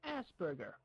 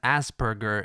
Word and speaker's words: Asperger: Now, in my feeling alone, possibly mutual with others, the name Asperger, it strikes me badly, and I feel offended just by hearing the word.